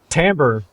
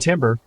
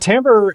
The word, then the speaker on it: timbre: exactly all right let's you want to pronounce this one timbre all right i still don't like it i still don't like that it's pronounced timbre it's still stupid i can change it well let's just everybody call it timber and then put like